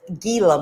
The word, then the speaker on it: Gila: hisses at you and those of us who mispronounce it gila monster but you say it gila yes yes i have